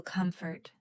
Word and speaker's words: comfort: When we say this word, we can say, I feel comfort. The stress is on the first part of the word, com.